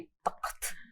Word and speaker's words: तख्त: Epiglottis से नहीं आए जब तक तो मजा नहीं। हाँ जी, तख्त। नो, से इट, यू से इट वेरी वेल। तख्त।